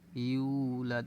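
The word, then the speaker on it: يُولَدْ: আয়াত লাম ইয়ালিদ ওয়ালাম ইউলাদ ইউ এখানে কিন্তু মুখ গোল হবে ইউলাদ এখানে এক আলিফ টান আছে মুখ গোল হবে দ্বিতীয়ত একালি টান আছে এখানে লাম ইয়ালিদ ওয়ালাম ইউলাদ লাম ইয়ালিদ এখানে কিন্তু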